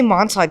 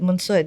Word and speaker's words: Monsod: People ask, why don't you, you know, I say monsad because it's just easier for people to say it, but mansud and I don't know.